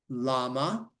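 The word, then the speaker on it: למה: it specifically okay five lama lama Mori so llama is why it's not a big animal with a long neck it's Lama llama it's why Lama ba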